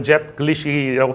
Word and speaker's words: 잡글리시: 어글리 그 잡이 원래 제 팬에서 나오니까 잡글리시라고 발음해야 되겠지만 잡글리시 그죠 얘가 잡스러운 영어입니다.